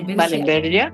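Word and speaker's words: Wahlenbergia: Ahí, en cierto modo, usted fue la responsable de, aquí lo tengo, ojalá que lo pronuncie bien, el rescate de la especie Wallenbergia, ¿puede ser? Sí, Wallenbergia, sí.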